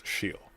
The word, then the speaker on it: Achille: And I had to look it up how to pronounce it, because like, his name's Achille, what? It's Achille.